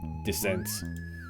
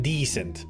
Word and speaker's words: Descent: I actually always pronounced it like decent. It's not decent, it's Descent. You're welcome.